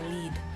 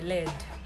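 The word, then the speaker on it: lede: Let's start with the first one, which is a lead or a lead. It's spelled as L-E-D-E or L-E-A-D. These two spellings are actually correct.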